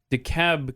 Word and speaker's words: DeKalb: you're like bro uh here we we call it uh dekalb county georgia not the call the you know not the co whatever but up in illinois it's dekalb yeah yeah yeah so